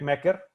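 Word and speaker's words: Meg Meeker: ha traído esta mujer, Meg Mecker, o Meg Micker, o sea, ¿cómo se pronuncia? Según yo es en alemán, entonces es Mecker, pero si es en inglés es Micker.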